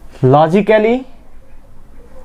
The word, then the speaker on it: logically: The next one is logically or logically. A also here will be silent.